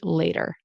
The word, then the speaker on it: later: But with the general American accent, this will turn into a flap t, which is a d sound. So we generally don't say later. It's kind of more British influence. We say later.